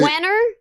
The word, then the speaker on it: Wernher: It's a WERNHER. Wiener von Braun. That's right. Werner. Yeah. Wenner. It's Werner.